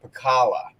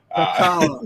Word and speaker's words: Pekala: But I pronounce it Pekala. Pekala.